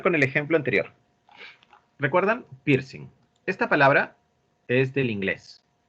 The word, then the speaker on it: piercing: Ah, con G no es piercing, es con N nomás, piercing. No pronunciamos la G.